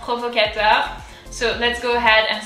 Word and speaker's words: Provocateur: So pro, the R comes from deep down. Pro, vo, that's kind of easy. Provocateur.